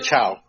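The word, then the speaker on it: Chão: how to say it is it fogo de cow or fogota ciao ciao is it ciao i i heard cow i hear some people no no the ciao okay anyway anyway so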